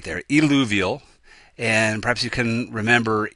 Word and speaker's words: eluvial: So you have to be careful with your pronunciation, eluvial and illuvial.